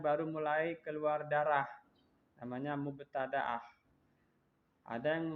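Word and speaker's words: مبتدأة: jadi perempuan yang baru mulai keluar darah namanya mubtada'ah ada yang membacanya mubtadi'ah.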